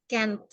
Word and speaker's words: can't: Ya, cara membacanya itu I can't. Pakai A gitu ya. Kalau can itu kan lebih ke E soundnya. Tapi kalau can't itu lebih ke A. Terus ada T-nya itu ya, dibaca juga.